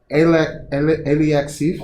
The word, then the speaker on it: Alexeyev: Alexiev. Am I saying it right? That was pretty close. Alexeyev. It's Alexiev.